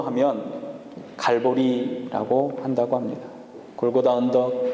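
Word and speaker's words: 갈보리: 라고 불렀던 것입니다 09 달을 라틴어 식 의 발음으로 하면 갈고리 라고 한다고 합니다 골고다 언덕 칼로리 언덕 이라고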